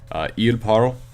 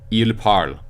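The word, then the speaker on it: ils parlent: Il parle. It's still pronounced il parle even though it ends with an ENT. You do not pronounce the ENT, it's just il parle.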